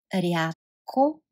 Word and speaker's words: рядко: Рядко. Рядко. And you can hear the in front of sounds like t. So you pronounce it рядко.